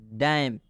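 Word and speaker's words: damn: यह गलत हो जाएगा डम एम के बाद एन आया है इसलिए एन का उच्चारण नहीं होगा डम का मतलब होता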